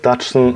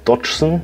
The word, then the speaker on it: Dodgson: In dem Teil wird ganz klar gesagt Dodgson, also da wird das O wirklich Dodgson ausgesprochen.